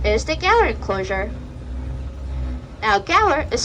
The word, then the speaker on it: Gaur: Now, Gaur is spelled g a u r.